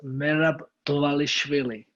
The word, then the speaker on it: Merab Dvalishvili: tell me if i'm right is it uh davish villi uh my name is mehrab ali swilley okay marab dwalishvili i know i butchered that but you have seen number 12